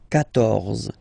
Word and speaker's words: quatorze: pronounce it, okay, so you will get the sound K here, K, quatorze, quatorze, okay, same thing here, U